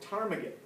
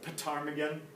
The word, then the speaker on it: ptarmigan: weight of a willow ptarmigan I know it looks like pitar Megan but a time you don't say the P it's a silent P ptarmigan alright so it's